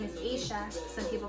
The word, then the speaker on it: Aisha: My name is pronounced Kamala. I think that's what people do with my name. My name is Aisha.